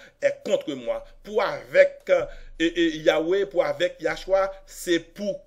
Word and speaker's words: Yahweh: He Vav He, puis il faut prononcer yo faut dire Yahweh, même à sorette dans un premier temps, yo te fait moun di Yehovah, et après 25 ans